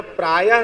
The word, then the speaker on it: प्रायः: यहां प्रायः शब्द का उच्चारण प्रायो बीजाय निश्चितते।